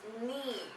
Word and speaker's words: knee: now the next is knee so here the letter uh k is actually silent you would only pronounce